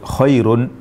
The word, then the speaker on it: خَيْرٌ: kata koirun dan fitnatun jadi koirun dan fitnatun yang berakhiran dengan tanwin tanwinnya tidak dibaca tanwin Itu adalah huruf nun bersukun yang diucapkan tapi tidak ditulis jika kita tidak membaca